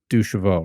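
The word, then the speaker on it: deux chevaux: actually see it that the 2cv is is how it's written but you say it in French it's ducheville right exactly exactly okay it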